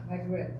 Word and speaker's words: Maghreb: I think I'm pronouncing that right. Maghreb. Sorry? Maghreb. Maghreb, that's how it's pronounced?